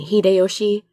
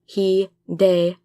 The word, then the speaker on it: Hideyoshi: And Hideyoshi, Hideyoshi, not Hideyoshi.